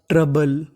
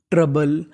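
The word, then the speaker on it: trouble: क्या पढ़ते हैं बल और मैंने बताया था आपको कि ओ यू का उच्चारण हमें नहीं करना किसका उच्चारण नहीं करना हमें ओ यू का उच्चारण नहीं करना अगर आपको कहीं पर ओ यू लिखा मिले क्या लिखा मिले ओ यू तो उसका उच्चारण नहीं करना तो हमें उच्चारण खाली टीआर का करना है और बी एई का करना तो मीनिंग बन गी ट्रबल ट्रबल ट्रबल का मतलब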